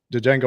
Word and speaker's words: Django: and he was like Django was like the D is silent and the guy's like